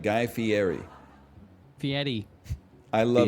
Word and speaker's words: Fieri: Middle school for me was like Guy Fieri. Fieri. I love Fieri, two yeah.